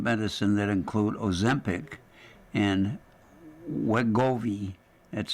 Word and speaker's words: Wegovy: Schmidt discovered animal and cell research demonstrating that GLP-1s, the class of medicine that include Ozempic and Wegovy, that's spelled w e g o v y, could treat concussions.